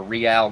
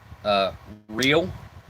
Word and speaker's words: Real: We have our Real gum. Everyone pronounces it in America real, but it's actually Real, like L'Oreal, like the makeup. That's how that's pronounced, as Real.